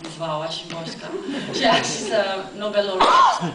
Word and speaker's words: Wisława Szymborska: It's not spelled like Wisława Szymborska, but it's pronounced Wisława Szymborska.